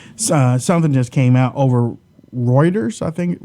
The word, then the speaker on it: Reuters: few seconds, but something just came out over Reuters, I think. Reuters.